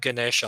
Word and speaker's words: Ganesh: me like packages with Ganesha on them. Like that just kind of bothers me. Ganesha, that's how you pronounce it? Ganesh. Ganesh, Ganesh, the elephant head god?